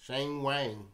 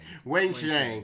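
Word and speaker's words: Wang Qiang: Simona Halep, Petra Kvitova, Kiki Bertens, Belinda Bencic, and Shang Wang. Is that how you say it? Sure. No, that's not how you say it. How do you say it, Isaac? Wang Xiang.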